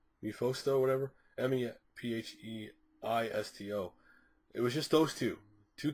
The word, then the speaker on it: Mephisto: It was just, again, Mephos, as I call him. I call him wrong. I know people say, you said it wrong. Mephisto, whatever. Mephisto.